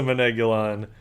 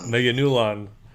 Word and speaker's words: Meganulon: But yes, racist dubbing aside, our hero Shigeru finally kills a Manegulon. I said it wrong. Meganulon by running a mine cart into it and crushing it.